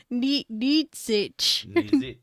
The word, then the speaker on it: Nietzsche: and you never heard it being said, so pronouncing it can be difficult. Yeah. But that is completely wrong. Nietzsche.